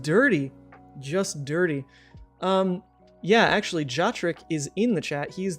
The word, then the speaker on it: Jotrick: Is it Joe Trick? I mean, I say Jotrick.